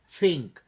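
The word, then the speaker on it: pink: এটা পিংক না। এটার সঠিক উচ্চারণটা হবে ফিংক।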